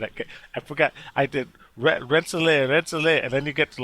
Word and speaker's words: Rensselaer: roll please mark please let me get this pronunciation right renzonia polytechnic institute still jacked it up rensselaer polytechnic now you know why they just go